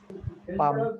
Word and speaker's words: palm: Palm. Palm. Palm. Which letter is silent here? Tell me. L. L. L. It is L silent, not P.